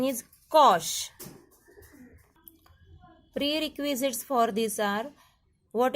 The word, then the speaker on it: cosh: Hyperbolic sine, proper pronunciation is shine, and hyperbolic cos, proper pronunciation is cosh.